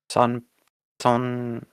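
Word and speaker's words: 선: Yours sounds like song. Like your son. An N sound at the end.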